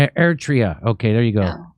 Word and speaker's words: Eritrea: you say the other country's name and ready eritrea ertria okay there you go oh god i'm so